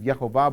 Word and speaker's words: Yehovah: He Vav He, whom by the oldest, most complete manuscripts that we have would be the pronunciation of Yehovah, but I'm not going